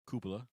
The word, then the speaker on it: Cupola: But it's the Cupola Project, or Cupola, actually is how it's pronounced.